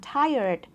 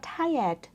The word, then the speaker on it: tired: ว่า tiet นะ คะ ถ้า จะ ออก เสียง ให้ เป็น แบบ อเมริกัน ชัด ๆ เลย จะ ออก ได้ ว่า I'm tired I'm tired นะ คะ จะ เน้น ตัว R ชัด ๆ นะ คะ แต่ ถ้า คน ที่ ไม่ ค่อย คล่อง ออก เสียง ตัว R ออก ว่า tied tied แบบ นี้ ได้ เลย นะ คะ มัน จะ ฟัง เป็น สำเนียง อังกฤษ แล้ว มัน จะ ทำ ให้ ออก เสียง ง่าย ขึ้น ด้วย สำหรับ คำ นี้ I'm